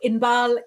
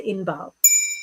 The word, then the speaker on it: Inbaal: You wouldn't ordinarily spell it with the double A. In English, I only do it to help people pronounce it a little bit better.